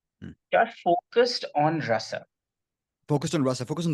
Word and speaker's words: rasa: you This is ra the complete syllable r, ra? and then the complete syllable sa without any matras, any distortions. Okay, rasa, Rasa, rasa, rasa.